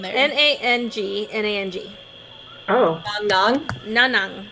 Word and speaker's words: Nanang: And that may be a challenge to get to, How do you spell that? Nanang? N-A-N-A-N. N-A-N... In there. N-A-N-G. N-A-N-G. Oh. Nang. Nanang. Nanang.